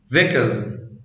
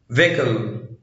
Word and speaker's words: vehicle: لا ينطق إذا جاء قبله حرف الإي وجاء بعده حرف متحرك. vehicle vehicle vehement vehement.